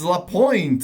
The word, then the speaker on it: LaPointe: to be legend, uh, Thomas La Point, I think that's how it's pronounced. Is that how you pronounce your last name? That is That is good. Thank you. Thomas La Point, right?